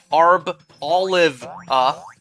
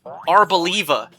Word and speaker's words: Arboliva: You would think, based on the way the name is spelled, it'd be Arboliva, or Arb-Olive, but no, the official pronunciation is like Arboliva.